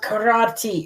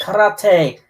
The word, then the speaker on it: karate: It's like, it's not karate, it's karate.